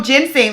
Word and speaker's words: ginseng: Oh, ginseng.